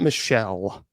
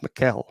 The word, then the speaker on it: Michel: It's not Michelle. She was German. It's pronounced Muel.